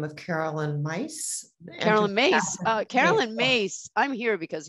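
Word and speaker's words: Myss: your experience of carolyn mace it's pronounced mace mace okay well and have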